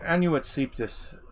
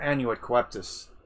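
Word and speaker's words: Annuit cœptis: so um okay anu anuet septus or anuet coeptus is i've heard people pronounce it both ways um it's from the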